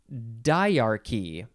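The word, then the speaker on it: dyarchy: to have to look ahead to get the pronunciation diarchy d y a r c y diarchy so that's something with two we'll learn about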